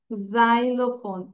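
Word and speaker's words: xylophone: okay okay write down this words spelling গুলো শিখে ফেলব এক্স তাহলে এটা হচ্ছে জাইলোফোন এক্স ওয়াই উচ্চারণ হবে বর্গীয় যেটা জাইলোফোন এক্সরে দ্যাট ইজ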